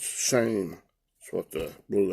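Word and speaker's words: שֵׁם: That's not the anoma, or in the Old Testament, the shame, S-H-E-M. That's the way they spell it. It's pronounced shame.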